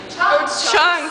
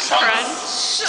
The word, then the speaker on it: Chunks: Chunks, not crunch.